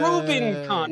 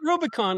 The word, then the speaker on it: Rubincon: Rubincon, not Rubicon, like Albie was saying.